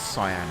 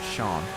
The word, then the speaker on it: cyan: the um the cyan is it is cyan right it's not Shan I'm pretty certain it's pronounced cyan oh wow break for